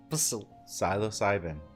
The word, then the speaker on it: psilocybin: You don't pronounce the P. Psilocybin.